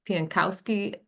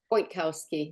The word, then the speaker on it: Piankowski: Career Services, we're happy to have you and as well as have Piankowski. Did I pronounce that correctly? Pointkowski, like Pian, point. Point.